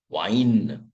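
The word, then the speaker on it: Wein: Now how will you pronounce the combination where E in English comes before I then we pronounce it like wine.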